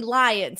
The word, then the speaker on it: Lyons: It's spelled Lyons, but it's actually Lions.